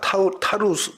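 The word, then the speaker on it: Tarsus: 곳입니다 예 다음 사진 보여주시면이 다소가 오늘날에 이렇게 발음합니다 타스가 타우스 타우스 이게 문인데요 실제로 굉장히 오래된 거 같이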